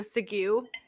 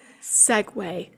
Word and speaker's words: segue: Speaking this is kind of a sidebar but also a little bit of a sigu. Um Segue. Yes. For anyone that doesn't know how segue is spelled.